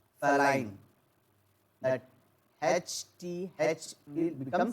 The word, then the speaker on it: phenolphthalein: We are going to pronounce it as the phenolphthalein. Phthalein.